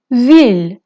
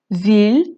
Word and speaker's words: ville: ফ্রেঞ্চে একটা রুল আছে যে এল এল থাকলে অনেক সময় সেটার প্রোনাউন্সিয়েশন ওয়াই হয়ে যায়, কিন্তু ভিলের মধ্যে সেটা হবে না। সো ভিলের মধ্যে এলটা আপনি প্রোনাউন্স করবেন, সো এটা হবে une ville।